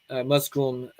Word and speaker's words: Musgum: and musgum muds Hut musom mud Huts is how you it's closer the pronunciation I probably butchered it but the these